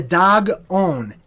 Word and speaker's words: Dagon: So the Dagon, D-A-G, is pronounced just like the animal, dog.